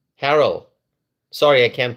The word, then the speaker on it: Harrell: This mayor Bruce Bruce Herell Harrell, sorry I can't pronounce his name.